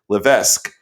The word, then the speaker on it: Levesque: right you'll let me know in a minute Levesque she is she's nodding so I got it